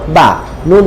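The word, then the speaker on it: بني: ফা ইয়া জের, ফি টেনে বলবো, বা জবর বা, নুন ইয়া জের নি, বানি। কি উচ্চারণ? বানি। বাতে টানবো না নিতে টানবো? অবশ্যই নিতে টানবো।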